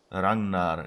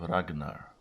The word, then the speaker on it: Ragnar: stova so it's short if they pronounce names correctly they would have to say rangnar instead of ragnar yeah it's that's been